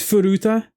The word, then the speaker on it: Furuta: It's Furuta. Okay, I got the wrong syllable.